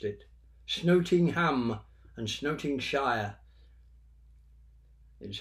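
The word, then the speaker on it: Snotingham: and then gross exit but the Normans couldn't pronounce the S so they dropped it and it became from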